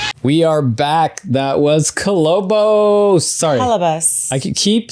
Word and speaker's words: Kolobos: That was Kolobos. Sorry. Kolobos. I keep saying Kolobos. I don't know why I refuse to call it Kolobos. It's probably actually pronounced Kolobos, but the filmmakers call it Kolobos.